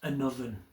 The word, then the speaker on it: Annwfn: still in use in Welsh today, the word anovven which is a w a n wfn. It's actually spelled um in our modern language today, but it's pronounced an oven.